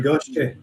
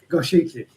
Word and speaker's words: Goshiki: Is that a Goshiki or a Goshki? They're both. It's called Goshiki. Goshiki. Yeah. That's how it's spelled, so that's how it should sound.